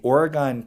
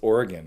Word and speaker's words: Oregon: I should be pronouncing it right? It's Oregon. It's not Oregon. Oregon.